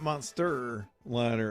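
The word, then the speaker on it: Monstaliner: I got to spell it for you because it's not Monster Liner. It's Monster Liner. M O N S T A L I N E R. Monster liner.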